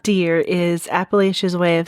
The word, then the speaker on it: Appalachia: Anyway, I hear some people say like appalacha and that sounds weird to pronounce a's like that. So I say appalachia.